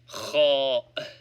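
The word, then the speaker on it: خاء: Cho. Pronounced like CH in the German Nacht.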